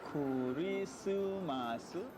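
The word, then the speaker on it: クリスマス: How do you say Christmas in Japanese? Your first Japanese lesson on Christmas Day. Kurisumasu. Simply say Kurisumasu.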